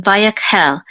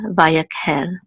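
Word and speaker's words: וַיַּקְהֵל: is a kuf, and the shiva is actually silent. It often is in the middle of the word, so it's part of this syllable right here, so this is yak, vayak, and this is a hey with its sere, which says he, and with the lamed it says hel, vayakhel.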